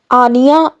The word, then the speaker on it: Anya: अगला नाम है दोस्तों आनिया। आनिया बहुत प्यारा नाम है। आनिया का स्पेलिंग ANYA।